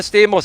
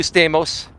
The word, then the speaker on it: Stamos: Much love to you, Stamos. It's actually Stamos, but the Americans can't pronounce, the Greek pronunciation, so we Americanize it like Stamos, right?